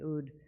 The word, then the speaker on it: oud: in ladino and she played the oud the ud is a middle eastern instrument that looks like